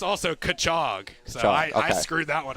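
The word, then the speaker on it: Cutchogue: It is pronounced also Kachog.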